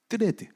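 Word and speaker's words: Threads: 뜨레드, TH로 시작하는 뜨 발음, 그 뜨레드라는 게 있는데 거기는 글자 수가 제한이 있기 때문에 사람들이 다 반말로 글을 써요.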